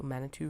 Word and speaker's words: Manitou: I think it's Manitou. Could be Manitou, but I'm going to say it rhymes with caribou, so Manitou Road, southeast.